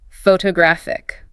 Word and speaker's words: photographic: And the adjective shifts the stress to the third syllable. Photographic. Wow. The location of the stress completely changes the word and how it sounds completely. If you say photograph app, you sound awkward and listeners will struggle to identify the word instantly.